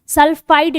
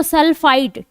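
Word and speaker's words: sulfite: ट सल्फाइड need, ठीक है, ड नहीं ट, ये प्रोनाउंसिएशन आप याद रखेंगे क्योंकि ये प्रोनाउंसिएशन आपसे नाम भी पूछ लेगा। तो सल्फाइट टी है, बाइसल्फाइट, अगर सल्फाइट है या बाइसल्फाइट है, देखो मैं ट बोल रही हूँ, प्रोनाउंसिएशन में बाइसल्फाइट और सल्फाइट ये होगा, तो आपको SO2 निकलती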